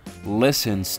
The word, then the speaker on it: listen: Listen to, listens to. Listen to, listens to. Percebam que o to listen, esse T é mudo, tá? Não é to listen.